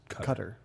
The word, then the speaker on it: Qatar: Yeah, it's technically supposed to be pronounced Qatar. Q-A-T-A-R. Like cooter.